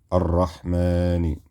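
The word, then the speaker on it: الرحمن: Instead of Shamsiyya, so you would have arra, ha, sukoon, arrah, mim, fatha, alif saghira, ma, so it'd be arrahma, nun kasra, ni. Arrahmani is the word here.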